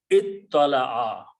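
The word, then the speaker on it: اطّلع: So instead of pronouncing ta and ta, we pronounce this one as a ta also. So it becomes ittala'a.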